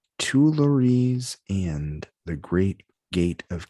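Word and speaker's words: Tuileries: was category was musical inspirations and it says tulares and the great gate of kiev were two of the artworks that inspired this classical work completed in 1874.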